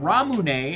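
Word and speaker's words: ラムネ: imported in Japan they called it ramune as like the Japanese Katakana pronunciation of lemonade lemonade and now it's just all called ramune if it's in the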